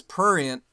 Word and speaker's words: prurient: okay first of all you guys all said it wrong it's prurient okay it's p r u r i e n t you didn't there was no t that you haven't used the t this entire episode yes i've used many